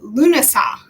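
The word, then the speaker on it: Lughnasadh: And that is Lunasa.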